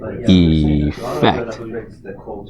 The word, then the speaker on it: effect: So you notice the spelling is different and the pronunciation is also a little different if you try saying them. So effect and then affect.